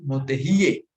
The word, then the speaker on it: motehi: Misalkan kalimat motehi amamu diucapkan sebagai motehiye amamu.